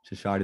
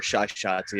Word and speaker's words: Shashadi: You pronounce it Shashadi last name, or Shashati if you want to be a little more Arab.